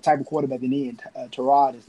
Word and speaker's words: Tyrod: Let me say Tyrod. That's how you really pronounce his name because it's been a lot in the media. It's Tyrod.